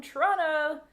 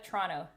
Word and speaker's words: Toronto: we got someone from toronto you know that's how you say it in canada toronto you don't say toronto you say toronto toronto or the big to